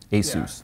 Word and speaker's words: Asus: I asked them once, is it Asus or Asus? And they said, just remember Dr. Seuss. Asus.